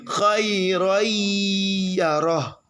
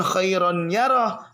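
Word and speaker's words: خَيْرًا يَرَهُ: Di bawah ayyadriba ada khairayyarah. Jelas nggak? Khairayyarah. Masuk bukan khairon yarah, tapi khairayyarah. Paham? Yang penting dibacanya dengan tempo gunnah yang dipanjangkan.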